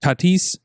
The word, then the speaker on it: Tatis: can't even find him fernando tatis jr that's how you say his name is he hurts based